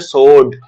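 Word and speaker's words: sword: सोड। ठीक है, सोड। ठीक, तो हमेशा रिमेंबर, हमेशा always remember that W इन स्वॉर्ड is silent, तो इसको आप क्या बोलोगे?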